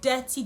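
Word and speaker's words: Detty: We call it Dirty December. It's a thing. Google it. We call it Dirty December. We actually spell it D-E-T-T-Y. However, we mean dirty as in D-I-R-T-Y, meaning that it is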